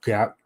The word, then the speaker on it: Gat: He then goes into a bathroom and encounters Gat, but you feel like Gat. Apparently, that's the way you pronounce it in the alien term.